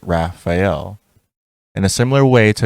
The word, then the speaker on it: Raphael: To pass, use the password Raphael, pronounced Raphael.